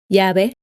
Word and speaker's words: llave: You can tell that it's pronounced exactly the same as the letter Y, except when the Y is at the end of a word.